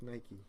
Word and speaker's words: Nike: The shoe with the arrow, it's pronounced Nike, not Nike.